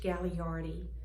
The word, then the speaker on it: Gagliardi: Good evening, I'm Sarah Stafford, and it's my privilege to introduce Gagliardi. Many people mispronounce his last name. Coming from, the second G is silent. You go right on to the L-I-A-R-D-I.